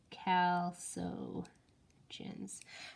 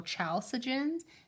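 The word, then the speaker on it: chalcogens: so those are all Cal so jhin's yeah and it has like a silent h okay Cal so chins and then when you see the word you always want to go cha sujin I know I know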